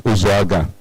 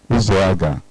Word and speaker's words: Uzoaga: The name is not supposed to be difficult to pronounce. It's Uzoaga. Uzoaga.